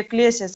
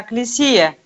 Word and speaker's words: Экклесия: Вы говорите, Экклесиас, там в беседе с Юлией было, она говорит, что по-гречески церковь – это Экклесиас. Это не Экклесиас, а Экклесия.